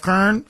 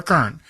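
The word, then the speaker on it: Koehn: Moonbat mayor, Briana Longo Kern, even though her last name is spelled Ko Ehn. So, anyway, she calls herself Kern. I'll call her Kern.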